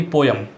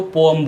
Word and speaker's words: poem: उसके बाद आती है अपनी कविता यानी पोयम, तो पोयम ना बोल के इसको पोअम बोलिए।